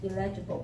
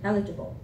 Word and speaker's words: eligible: This word I often heard people say illegible, but the stress is in the first syllable, eligible.